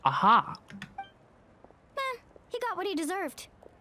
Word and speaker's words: Aha: filter that's all I don't mind aha it's pronounced aha he got what he deserved let's just hope